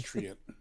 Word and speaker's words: Treant: they please just write I pronounce it Trent and just write it out with no explanation, no attempt to give us No phonics. the phonics of it. Yeah, no. Just well, obviously I just pronounce it Trent. Doesn't everyone? Yeah. Trent. Trent. Trent. well, the halfling druid in this article, she says Treant.